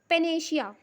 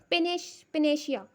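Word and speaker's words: panacea: Okay guys, फिर पेनेशिया। पेनेशिया guys, this is a very nice word, पेनेशिया। इसका अर्थ होता है रामबाण। पेनेशिया वीपॉन्स, रामबाण हथियार, ठीक है। पैनाशिया, जब प्रोनाउंसिएशन हम करेंगे पैनाशिया, तो पैनाशिया, ठीक है।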